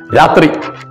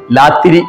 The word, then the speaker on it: രാത്രി: രാത്രി എന്ന് പറയണമെന്നാ. ഞാൻ അവളെന്താ പറഞ്ഞ ലാത്തിരി എന്ന് പറഞ്ഞു.